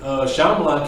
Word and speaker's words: Shyamalan: How do you movie that pronounce was. it? Shyamalan.